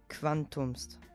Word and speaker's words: quantum est: Als Beispiel quantum est, quantumst.